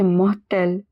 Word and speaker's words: mortelle: Elle est longue, plate et mortelle. It is long, flat and deadly. R in the middle of mortel is pronounced as H.